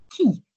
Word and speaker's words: qui: It means who, but we say it like key, like the key in the door.